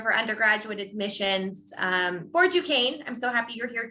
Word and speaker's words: Duquesne: counselor from duquesne university i know it's a weird french word but that is how we are pronounced i'm an assistant director for undergraduate admissions um for duquesne i'm so happy you're